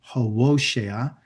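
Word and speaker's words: Hosea: So Yahwa's opening words in speaking to Hosa, that's his proper name, how to say it, Hosa, salvation were to instruct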